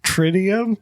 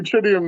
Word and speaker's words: tritium: ain't there yet trium tridium you don't know how to pronounce tridium like tridium night sights it does not look like it man it Tri titium okay offer tritium night tritium sites in